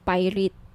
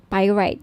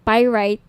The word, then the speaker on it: pyrite: gusto niyo ng bracelet ito yyung pirate pyrite sorry pyrite yung iba pronunciation pirate pyrite Okay 1,980 each may